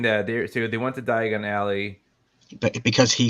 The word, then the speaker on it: Diagon Alley: So you're saying that they went to Diagon Alley. But because he said it differently, he said diagonally, as in diagonally, instead of Diagon Alley.